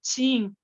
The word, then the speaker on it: Qing: Las dinastías más importantes fueron la Tang, la Shu y la Qing. Ustedes le ven escrita con Q. Q, la U, la I y la N. Pero se escribe así, pero se lee Qing.